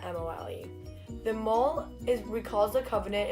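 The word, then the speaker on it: mohel: This procedure is performed by a specially trained person called a mole, which is spelled M-O-H-E-L, not M-O-L-E.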